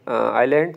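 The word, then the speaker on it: island: इसके बाद एमसीक्यू से क्या फाइंड the silent letter in the word आइलैंड। तो इसमें एस जो है साइलेंट है।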